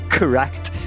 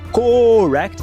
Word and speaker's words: correct: O correct. Muita gente quer falar correct, só que o o não existe no inglês. A pronúncia correta é cá.